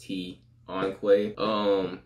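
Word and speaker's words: Tonqay: My name, for those who don't know, is Tion Quay, spelled T-O-N-Q-A-Y. But that's apostrophe, so it's pronounced Tion Quay.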